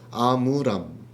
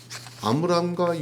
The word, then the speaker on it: 아므람: 아브람이었던 발음하고 좀 비슷하죠. 아므람.